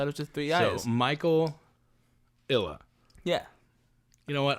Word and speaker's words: Mykel: yet and it's myk-i-l-l-a because my name is spelled m-y-k-e-l for Michael so it looks like my killer so it looks like